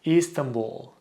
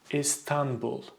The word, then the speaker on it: İstanbul: People usually say Istanbul, or Istanbul. Again, they stretch the syllables and they put so much stress in the last syllable. It's just you should pronounce it as Istanbul.